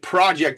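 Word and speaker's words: Projekt: Focus is spelled P H O C U S and project in this case is P R O J E KT project baby.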